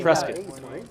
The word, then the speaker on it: Prescott: Nevada but also Nevada Prescott Arizona you're supposed to say Prescott it's a big deal like I got corrected